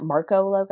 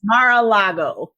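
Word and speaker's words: Mar-a-Lago: Is that is that how you pronounce that? Marco logo. I want to be like Margo logo. Morocco. I don't know. It's Mara Lago.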